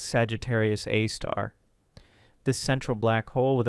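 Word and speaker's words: Sagittarius A*: super massive black hole named Sagittarius, a star pronounced Sagittarius Aar.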